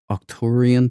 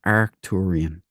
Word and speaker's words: Arcturan: Uh this thing in Aliens is like it's it's not I thought it was octuran puntang that they were saying, but it's Arcturan, but it's just the way they pronounce it.